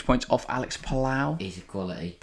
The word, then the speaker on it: Palou: 6 points off Alex Palau. He's a quality. Or Palou, I believe is how you say his name.